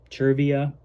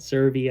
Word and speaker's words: Chia: we drove down to Chia I've been pronouncing it CIA I think it's Chia that's what I heard over the loudspeaker so I hope I'm getting getting it right um which is where